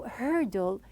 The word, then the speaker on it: hurdle: the word herdle now when I pronounced it at the very beginning and I said it is like a heavy word because the r is a heavy sound so herdle some people they face